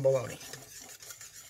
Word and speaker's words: bologna: go italian bolani no it's more than italian baloney so the funny thing is it comes from bologna which is spelt like bologna well not baloney e y